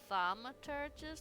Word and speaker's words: thaumaturges: I'm pretty sure we call it— it's called thaumaturges, not thome.